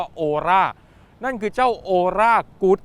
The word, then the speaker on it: ORA: ร่า นะ ครับ ก็ คน อาจ จะ ออก เสียง ออร่า แต่ ถ้า ถูก ต้อง มัน ต้อง ออก เสียง อย่าง ที่ เขา บอก ว่า โอราช นั่น คือ เจ้า โอราช